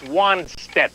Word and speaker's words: Wannstedt: Well, first of all, your pronunciation guy for Woody, it's Wannstedt.